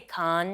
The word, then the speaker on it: Cannes: don't like it I can just go into the shrubbery whereas like in can as the Americans say and you're supposed to say con.